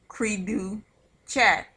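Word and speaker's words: cri du chat: syndrome that is caused by deletion is is pronounced creedu chat which also stands for cry like a cat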